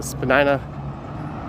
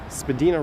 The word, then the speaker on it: Spadina: tiptoe through the tulips there's the spanina or rather if you google it you'll find out the correct pronunciation of this part is spadina not spadina it's spadina road and spadina avenue i've ever got a